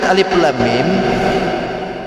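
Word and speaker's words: الم: Kalimat Alif Lam Mim kalau dihukumi dengan bahasa tajwid, ini kan hukumnya mad lazim, harfi musyba, musaqqal. Mad panjang, harfi huruf, musyba penuh, musaqqal berat. Makanya dibacanya Alif Lam Mim gitu. Itu berat.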